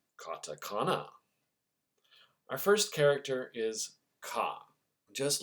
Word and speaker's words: カ: Ka. To help you remember this character and its pronunciation, think about an old pirate's cutlass.